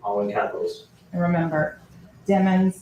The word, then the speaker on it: Demons: in capitals and remember demons like rhymes with lemons I know my foreign October 26 2018.